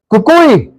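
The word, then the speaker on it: coqui: Kukui!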